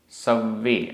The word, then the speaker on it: सव्वे: बाहिरा, बाहिरा, भावा, भावा, सव्वे, आधा वा पूरा वा, सव्वे, संजोग, लक्षणा, आधा का ख, संजोग लक्षणा, संजोग लक्षणा।